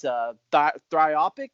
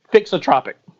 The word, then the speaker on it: thixotropic: And there's a name for that, and I'm going to probably mispronounce it, but it's Thixotropic. Is that Thixotropic.